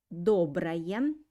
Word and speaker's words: доброе: Pay attention that доброе, first O I pronounce like O, and second O I pronounce like A. Доброе.